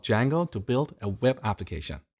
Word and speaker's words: Django: So it's spelled with a silent D, and is pronounced django.